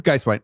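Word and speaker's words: Guisewite: How do you pronounce her last name? Geiswhite.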